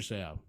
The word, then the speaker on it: Seau: It said Junior, and then it would say "Say dash Ow." like how to pronounce his last name.